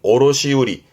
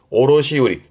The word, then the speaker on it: 卸売: 발음은 오로시우리. 오로시우리 뜻으로 전부 읽습니다.